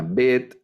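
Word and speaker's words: ב: alef que es muda la bet que es como nuestra letra b algunos hacen una diferencia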